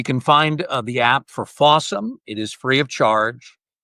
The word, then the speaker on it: Fawsome: It's called Fawsome TV and that's spelled F A W S O M E. So, it's the word awesome with F at the beginning.